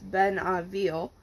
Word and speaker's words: Benneville: In my town, Benneville, Louisiana, pronounced locally as Benneville, population 1700, hurricane preparations